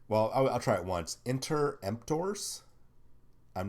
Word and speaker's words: Interemptors: Interemptors. I'm not. I mean, it's Interemptors, like contemptors, but get rid of the con and enter. Put in inter.